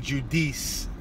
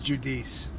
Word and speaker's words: judice: the uh Quorum non judice I made it to sound Italian I'm calling it judic it's judice sorry guys but the doesn't